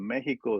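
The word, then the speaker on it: México: which really the pronunciation of Mexico is Mexico, right? Right. Because the X is sh, right?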